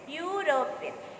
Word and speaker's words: European: spoken to a european european though e the word is started with a e but the pronunciation comes as y european so we need to